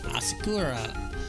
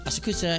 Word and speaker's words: Asakusa: to in Ginsa and Asakura, Asakura, and you know, so asakusa and so on and so forth. God, I'll get that pronunciation right eventually.